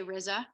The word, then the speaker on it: Rizza: people pronounce it but usually I say Rizza okay but RZA works you could say Rita too like pizza that's fine okay I can remember